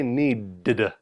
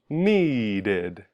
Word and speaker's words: needed: If the last sound of the word is t or d, now we add the extra syllable and say something like id.